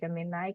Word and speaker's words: Gemini: Gemini ya ya Ee saya menyebutnya jamenai karena memang cara membacanya ya jamenai seperti itu iya ee jeminaai ini